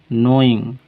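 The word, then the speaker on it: knowing: नॉट नोइंग, और उनको नहीं पता था। नो मीन्स जानना। यहाँ पर के साइलेंट होता है, के का प्रोनाउंसिएशन नहीं किया जाता है।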